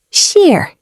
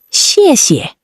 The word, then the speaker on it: 谢谢: In Chinese, thank you is 谢谢. Pronounced sheer. Sheer. Let's say it together. 谢谢. Again. 谢谢.